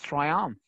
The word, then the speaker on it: triumph: And don't forget, guys, that we pronounce the PH as like diphthongs, as fa sound.